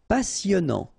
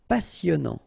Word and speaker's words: passionnant: Passionnant. Final T not pronounced. Passionnant.